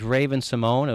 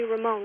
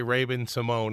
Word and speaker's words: Raven-Symoné: Mark, if you call me Ramon one more time, you'll be eating your next cheeseburger through a straw.